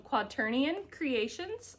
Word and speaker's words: QuaternionCreations: And then I have Of Dragon and Apples from QuaterionCreations.